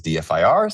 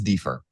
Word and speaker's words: DFIR: Some people pronounce it as DFIR. Some people pronounce it as defer.